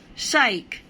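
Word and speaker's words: psych: এরপরে দেখো সাইক, এটা হচ্ছে ভার্ব, পি এর পরে এস আছে, সুতরাং পিটা উচ্চারণ হবে না।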